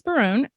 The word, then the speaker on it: Barone: daughter Faith yep and today's guest is Barone did I pronounce that correctly okay good um actor producer